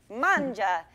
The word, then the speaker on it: mangia: of your viewers who don't speak Italian vanja is spelled ma ngi a manga and uh ja ja ja ja de how